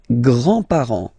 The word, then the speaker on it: grands-parents: Les grands-parents. Les grands-parents. Remember, you don't pronounce this final S here.